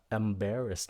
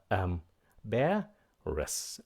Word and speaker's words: embarrassed: Các bạn phát âm nó là embarrassed nha, đừng có embarrass, nó là embarrassed. Nhấn âm thứ hai, embarrassed.